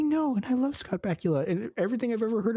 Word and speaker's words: Bakula: Bakula's name and so he called him Bakula forever and I I think that's a much cooler way of pronouncing it especially Dan having a a British accent but it's bacula Scott Pula give us